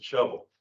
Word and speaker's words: Shelbyville: But I was told early on that it's not Shelbyville, it's a shovel.